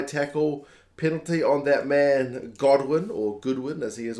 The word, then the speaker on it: Godwin: who Owen and Kamali insists on pronouncing his name Goodwin despite the fact that it's God I know pronunciations can